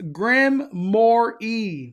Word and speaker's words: Grimoire: Mondo, Knott's thing is pronounced Grimoire.